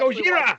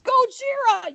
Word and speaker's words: Gojira: My favorite part of that entire thing is her reaction to him mispronouncing Godzilla. That It's Gojira! funny. It's Gojira, you moron!